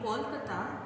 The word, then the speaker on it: Kolkata: In 2001 Calcutta became Kolkata, the Bengali pronunciation of its name.